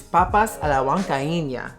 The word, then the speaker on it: papas a la huancaína: Number 7, oh my goodness, is papas a la huancaína.